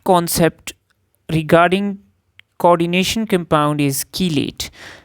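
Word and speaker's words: chelate: नाउ the last कासेप्ट regarding coordination compound is कीलेट। नाउ इट is pronounced as की लेट। सो इट इज कीलेट।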